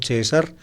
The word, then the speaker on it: Caesar: La palabra César, en latín Caesar o César, como la pronuncian a la italiana, era como el apellido, digámoslo así, de la familia de Caius Iulius César.